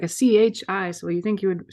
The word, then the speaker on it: Chi: Chi or something but it's actually like Chi so it almost looks more like all right sounds more like k-i-e-kai you know um it runs right like it said it rhymes with sky this test examines the